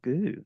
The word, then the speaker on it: Goux: artist and author goo welcome thank you so much for having me a pleasure did I get your last name uh pronounced that's right yeah great job you didn't